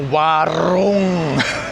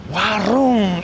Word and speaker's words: warung: Yeah, getting back to the rolling of the r, you get people going, "Oh, warung." Yeah, like that. And it's like, "Uh you don't have to roll your r that much, mate."